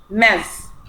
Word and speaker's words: Ms.: هي TS بس الاسم منطقة ايه؟ Z. Ms.